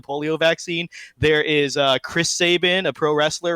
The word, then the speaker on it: Sabin: from this it's that it's pronounced Sabin on our discord I pulled out multiple links any real person living with this name there's very a lot of famous Saban's out there it's a real name like Zidane I mean I don't care how you pronounce fetus or jekt or whatever because those are fake made-up Fantasy names right but Sabin is a real-world name look up Albert Sabin